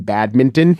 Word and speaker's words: badminton: jump on them, but I always can say the N in badminton and get a lot of plaudits.